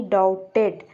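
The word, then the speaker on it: doubt: ये बी क्या है, साइलेंट है, यहाँ पर लिखने में बी आता है लेकिन पढ़ने में नहीं आता है फ्रेंड।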